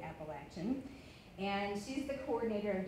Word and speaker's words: Appalachian: She made sure that we knew to pronounce it Appalachian.